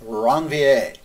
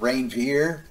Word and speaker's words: Ranvier: formal a person's name a la francaise everyone this is a note of ranvier many times in American English we sort of bastardize the word into something that rhymes with reindeer so you'll hear people say note of range here and then some people